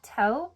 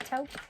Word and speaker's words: taupe: a universal person Universal taupe I think that's how you say it taupe I'm not for sure okay and for the